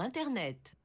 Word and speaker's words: Internet: Sur Internet. Yeah, so she pronounces T.